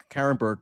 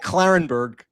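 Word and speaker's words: Klarenberg: I'm all over the place these days, but yes, I did come up in a report by Kit Carenberg. I said Kit Carenberg. Sorry, Kit Clarenberg.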